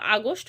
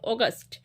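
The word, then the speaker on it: August: তারপর দেখো অগাস্ট, অনেকে এটাকে আগস্ট বলো, কিন্তু এটা উচ্চারণ হবে অগাস্ট, এ ইউ ও, এ ইউ ও, জি ইউ এস টি, গাস্ট।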